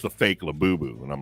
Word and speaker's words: Labubu: and I showed the Labubu, and everybody types Labubu like it's spelled like Labubu, right, or something like that. Right. But I spell it Labooboo. You know, like boo boo.